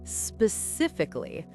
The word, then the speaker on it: specifically: Specifically. Remember the stress is on sif.